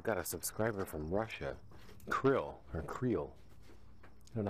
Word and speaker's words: Kirill: Kirill.